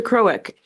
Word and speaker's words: Krowick: Krowick, am I pronouncing your name correctly? It's pretty close.